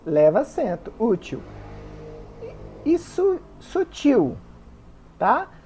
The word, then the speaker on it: sutil: leva acento útil isso Sutil tá Sutil é uma oxítona terminada em L não leva acento o mesmo acontece com